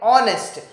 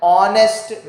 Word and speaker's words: honest: starts with a vowel there is a vowel in the beginning h but the h is silent and the starting sound is a vowel sound okay consonant like in